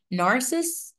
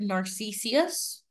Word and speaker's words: Narcissus: also another Greek myth narciss as many of you have heard narcissus they're both correct pronunciation it depends on how you want to pronounce it for this actual myth